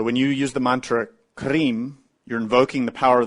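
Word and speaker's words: Krim: from sanskrit which we spell k-r-i-m but it's pronounced green you pronounce that mentally while you eat that mantra is related to the divine mother kali who is the destroyer so when you use the mantra cream you're invoking the power of the divine mother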